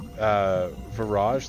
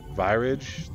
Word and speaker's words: Virage: How do you pronounce, like, I pronounce it, virage, like mirage, but I've also heard people say, like, virage, like virus.